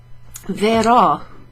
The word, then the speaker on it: verò: Oh, there's a manca un accento qua. Okay, so we were missing an accent there. Verò, verò.